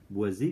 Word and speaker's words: boiser: Cette fois-ci, il n'y a qu'un S, d'accord, parce qu'on entend le son Z, boiser, B-O-I-S-E-R.